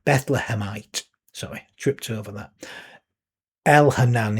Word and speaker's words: Elhanan: Elhanan is how it I pronounce it. Spelled E L H A N A N. It may not meant to be pronounced that way. That's just me reading the text.